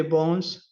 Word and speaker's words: bon: Aquí hay mucha diferencia en pronunciar este bon. Este es un bon. D'accord. Bon. Este es un bon. Bon. Cerrado. Bon. Y este va a ser ya bonne. Bonne. Abierto.